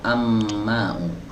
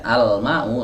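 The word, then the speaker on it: الماء: dibaca berikutnya yang ini mana yang benar Al mau atau Amma ya Ini tadi udah saya baca ya Al mau lamnya dibaca karena mim huruf Qomariah yang ini apa nih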